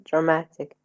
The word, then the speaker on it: dramatic: climatic stress on climatic drama we say drama yes but when we add tic what do we get dramatic dramatic dramatic so it's not